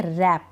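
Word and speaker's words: wrap: शुरू हो रही है तो इसको हम पढ़ेंगे रैप डब्लू नहीं पढ़ रहे हैं डब्लू को हम प्रोनाउंस नहीं कर रहे हैं साइलेंट है इसको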